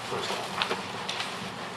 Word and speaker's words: Farstad: I don't want to pull it, but I do want to acknowledge that Jennifer Farsted's name is spelled incorrectly. And I apologize to Jennifer for that. It's Farstad, not Farstad.